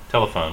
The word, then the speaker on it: telephone: the phone three now which one is stressed answer the telephone we stress the first syllable in English telephone um I want to